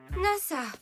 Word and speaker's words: Nasa: NASA. C'est trop cool. NASA comme l'agence spatiale. Pas tout à fait. Ça se lit NASA, mais ça s'écrit avec les kanji du ciel étoilé.